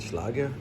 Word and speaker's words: Schlage: You can pronounce it any which way you like. I'm gonna go with Schlage, yeah.